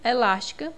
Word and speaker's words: elástica: é o nosso gabarito elástica na sílaba las né é a mais forte é a anti penúltima nós temos aqui uma